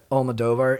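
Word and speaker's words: Almodóvar: Almodovar? Almodovar.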